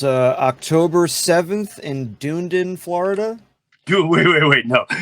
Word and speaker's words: Dunedin: the two dates it's uh October 7th in Dunedin Florida wait wait wait no it's uh this